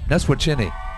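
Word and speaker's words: Neswiacheny: Well, it's spelled N-E-S-W-I-A-C-H-E-N-Y. Yeah, that I in there throws you off.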